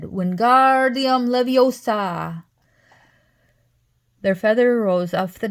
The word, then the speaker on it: Leviosa: "Wingardium Leviosa," he shouted, waving his long arm like a windmill. "You're saying it wrong," Harry heard Hermione snap. "It's Wingardium Leviosa, not gar, nice and long."